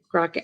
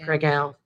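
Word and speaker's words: Kraków: um bratislava um prague and crockett i know i know i'm not saying it right krakow poland we did vienna loved it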